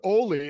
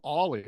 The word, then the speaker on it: Oli: His name's Oli, and I called him Ollie.